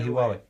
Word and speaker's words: Huawei: How do you say Huawei?